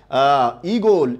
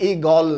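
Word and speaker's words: ঈগল: ইগোল, ইগোল, এটা কিন্তু ইগল না, উচ্চারণটা হচ্ছে ইগোল, ইগোল উচ্চারণটা, এটা মাথায় রাখতে হবে, ইগোল।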